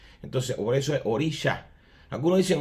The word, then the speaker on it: orisha: sh sino s pero esa s tiene como un apóstrofe arriba que se pronuncia como una Che entonces por eso es orisha algunos dicen orisa pero para nosotros los